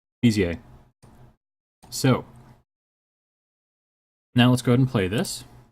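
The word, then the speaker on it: Bézier: Finally look that up, how to pronounce that word. It's Bezier.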